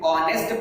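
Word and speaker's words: honest: ऑनेस्ट, H silent है, तो इसमें ऑनेस्ट पढ़ा जाएगा, इसलिए एन ऑनेस्ट, एन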